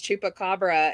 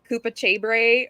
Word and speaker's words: chupacabra: And she goes, "The lady who came with the answer couldn't remember how to pronounce chupacabra, and she said it's something like Koopa Chabre or something like that, or Koopa Hoopa or something like that."